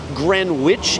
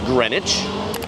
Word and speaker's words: Greenwich: It's not Greenwich, it's Greenwich.